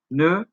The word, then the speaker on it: ne: Notice also how I pronounce it, because ne is a short word, a two-letter word with a consonant and an e muet, a schwa, ne. We drop the sound of the e altogether.